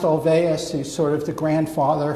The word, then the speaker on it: Olweus: to go into who that is but it's pronounced Olweus you sort of the grandfather founding father of